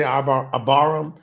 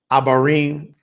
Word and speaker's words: Abarim: abarim so so aaram some people say abam abarim I think that's a better pronunciation abarim sign Nam Hebrews